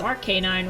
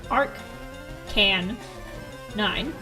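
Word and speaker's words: Arcanine: You pronounce Ark9 wrong. It's Arcan 9. Ar K9. K9 dog.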